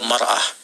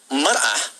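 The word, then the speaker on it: مرأة: Ya, kalimatnya sama, cuma cara bacanya beda. Al-mar'atu kal mir'ah, yang satu pakai fathah, yang satu pakai kasrah.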